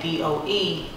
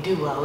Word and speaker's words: Dou: just spell it d-o-u some people say duo they're like dream duo like no jane doe so then i changed